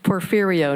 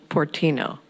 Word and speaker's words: Porfirio: It's Porfirio, not Portino.